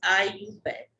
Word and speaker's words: IUPAC: This is the IUPAC, and its present form, the system is known as IUPAC system, pronounced as IUPAC.